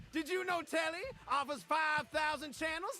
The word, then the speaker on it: Telly: The name's Tally. Rhymes with Nelly. Like, whoa, Nelly. Did you know Telly offers 5,000 channels like an analyst deli?